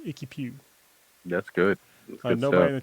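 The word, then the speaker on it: IKY PW: I'm going to pronounce it Icky Pew. It's IKY space PW. For me, that's Icky Pew.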